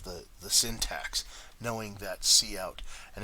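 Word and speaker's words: cout: the syntax knowing that C out and if you didn't know what C out is and that's how it's pronounced you would say what's count I don't understand what count is so this is just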